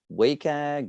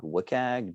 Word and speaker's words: WCAG: how to pronounce it is it wacag wikag wcag depends on how you ask right so the current